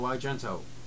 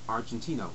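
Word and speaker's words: Argento: love me some Dario agento which before I said it out loud I always pronounced it I always thought of it as Argentino but um I know better um this is one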